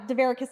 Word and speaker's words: Dvareckas: Yeah, Dvareckas like asparagus.